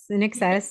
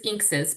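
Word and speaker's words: INXS: sure people Which know, but which she pronounces inkses, by the way, and it's the running joke in the house because that's one of the words that I showed her, and she was like inkses, and so we just call them inksons now.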